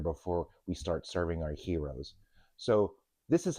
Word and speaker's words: gyros: to make our plant-based gyros and tzatziki sauce. And if you're from Pittsburgh, we call them gyros, but we're going to call them gyros today, the proper pronunciation.